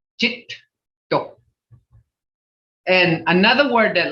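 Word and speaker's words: geddo: So when you have a double consonant like Jito, G-E-D-D-O, you got to pronounce both consonants. Jito.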